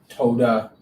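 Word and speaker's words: תודה: i thought what duh they don't even say they say toda all right today like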